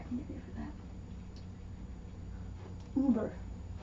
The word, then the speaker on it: Über: Über. You've all heard Über. Über. Not Uber, Über.